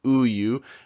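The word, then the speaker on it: 우유: have the word for milk it's who you so remember the feasts are silent they are not pronounced it's just ooh you and they're there to format and to keep consistency because every a block needs a consonant it's a silent consonant here we have another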